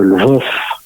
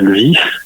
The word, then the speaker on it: Lviv: Kiev, je précise à chaque fois, il y a les 2 orthographes, faut pas oublier que l'orthographe russe fait prononcer le Lvov, Kiev et Kharkov, et donc en ukrainien c'est bien Lviv, Kiev et Kharkiv.